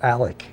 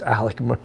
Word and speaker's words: Alex: spelled a-l-e-x Alex but his first name is pronounced Alec so it's Alec so people get crazy